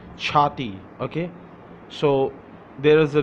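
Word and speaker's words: چھاتی: Let's come to for girls, Chati, Chaati, Chati, Chati.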